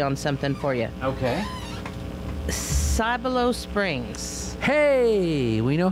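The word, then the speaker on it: Cibolo: something for you okay cyber low springs hey we know how to say it now i was like what he said s and then i sigh sigh below okay i was like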